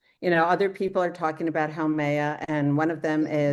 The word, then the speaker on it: Haumea: can that's start with Haumea. Haumea. Haumea, they Haumea. pronounce, my understanding is they Oh, pronounce each vowel, they pronounce each letter.